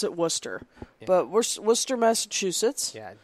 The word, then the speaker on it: Worcester: looks like it's pronounced Worchester that's how US people who don't know how to say things but wor s I'm sorry Worc e is actually one word worse so we don't pronounce the sester it's because I know